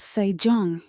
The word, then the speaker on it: Sejong: His son becomes King Sejong, pronounced Sejong, a quiet mind in royal robes.